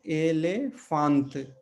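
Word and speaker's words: elefante: तो यहाँ पे एक उसका उदाहरण है एलेफांत, एलेफांत। अब यहाँ पे देखिए, ये भी ए है और ये भी ए है पुर्तगाली में, लेकिन इसका उच्चारण ए की तरह है और इसका उच्चारण अ की तरह है।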